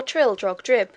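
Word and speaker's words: Trildrogdrib: It contained a warrant for conducting me and my retinue to Traldrag Dub, or Trildrog Drib, for it is pronounced both ways as near as I can remember, by a party of 10 horse.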